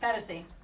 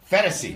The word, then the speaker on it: Phetasy: Phetasy. Phetasy. No, Like fantasy? It's like fantasy and fetish combined.